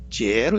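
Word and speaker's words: 哲: 철자인데 왜 이렇게 영어 발음을 넣느냐면은 중국에는 리을 받침이 없죠. 입성 발음, 리을, 기역, 비역 받침이 없습니다. 그래서 중국에서는 이게 철을 제로 읽는 거죠.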